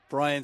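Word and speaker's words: Bryan: Brian spelled B-R-Y-A-N, and he said to me, but it's pronounced the same.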